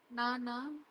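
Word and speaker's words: なな: நானா நானா இன்னொரு வேர்ட் ஷீச்சி சிச்சி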